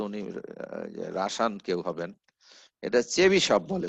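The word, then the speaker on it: Chebyshev: আমি জানিনা হয়তো উনি রাসায়ান কেউ হবেন এটা চেবিশপ বলে উচ্চারণটা চেবিশপ আমি উচ্চারণটা লিখে রাখছিলাম দেখ চেবিশপ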